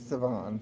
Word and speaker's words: Siohvaughn: I think that's how it's spelled. LMNOP. I don't Siohvaughn. know. It's Siohvaughn.